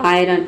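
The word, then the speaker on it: iron: लेकिन कुछ वर्ड है जो कि इस रूल के एक्सेप्शन है, जैसे कि आपका हो गया आयरन। आयरन मतलब होता है लोहा। तो रूल के अकॉर्डिंग यहाँ पे आई के बाद आ रहा है तो आई का जो प्रोनाउंसिएशन है वो अ होना चाहिए, लेकिन यहाँ पे हम आई को क्या पढ़े हैं, आ पढ़ रहे हैं। ठीक है, आयरन होता है, ऑरन नहीं, आयरन इसे नहीं पढ़ेंगे, इसे पढ़ेंगे आयरन।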